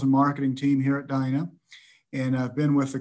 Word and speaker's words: Dyna: like you said but it's actually pronounced dinah uh notice you pronounce the dana which a lot of people do uh it's d-y-n-a and we pronounce it